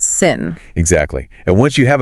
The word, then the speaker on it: sim: And words ending in "m" make an "n" sound. So, the word for yes, sim, spelled s i m, is actually pronounced sin.